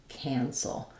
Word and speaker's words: cancel: But then when we get to cancel, the end is the same, but the beginning here has the a vowel, like you can't cancel. So that's going to be the a sound.